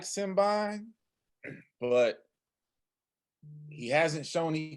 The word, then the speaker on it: Simbine: First of all, I would like to, apologize for Sir Clyde that the young man's name is Simbine, not Simbine, but we'll run with it.